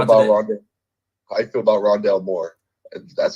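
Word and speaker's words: Rondale Moore: how you feel about london i feel about rondell moore that's how you say his name rondelle moore out of purdue the receiver he honestly this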